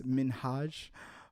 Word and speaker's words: Minhaj: hassan minhaj people don't people always mispronounce his name it's minhaj uh just in case